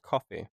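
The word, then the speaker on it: Ko-fi: Subscribe to our Kofi. Oh, yeah. It's on Kofi. Kofi. Apparently, it's pronounced coffee.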